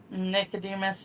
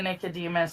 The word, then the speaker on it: Nicodemus: It's the the What does the first couple of syllables of that sound like? Angela Nick. Yeah. There you go. Like Nickelodeon.